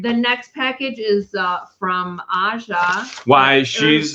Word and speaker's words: Aja: The next package is from Aja. Why she's It's pronounced Asia Hildebrandt from Comstock Park in Michigan.